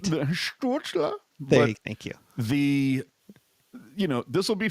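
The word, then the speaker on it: Stützle: Tim Stutzla. Anyway, you didn't say it right. Stutzla.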